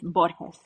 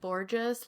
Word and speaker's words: Borges: to say it properly you want the Spanish version is borus oh so sexy I know cuz I would have said Borgeous like a real white girl so well when I